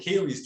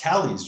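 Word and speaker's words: Kali: so we didn't know that we called it kaylee's dream but it's pronounced cali's dream that's right right after the divine mother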